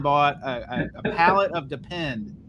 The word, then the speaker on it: Depend: a a pallet of depend not depends people say it wrong depends it's dependent and